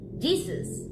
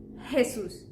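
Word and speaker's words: Jesús: that one because if you said Jesus as as you say it in English well you're mistaken we say Jesus because our JS are actually sort of like your age is Jesus and yes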